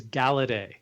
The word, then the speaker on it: Galaudet: It is It is Galedet, but it has It's French.